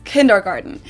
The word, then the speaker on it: Kindergarten: Let's start with one of the most known ones, and that is kindergarten. In German, we pronounce it Kindergarten, and it literally means children's garden.